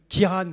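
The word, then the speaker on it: Ciarán: les les ravages de Kiran c'est comme ça qu'on prononce et de Domingo estimé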